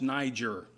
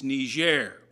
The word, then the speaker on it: Niger: In 21st century English, it's pronounced Niger, unless you happen to be on the African continent, and it's Niger, okay, because it's a French colony, okay? And they pronounce things differently, okay?